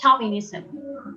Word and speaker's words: chauvinism: So Angelica is asking, how can we pronounce chauvinism? It's chauvinism.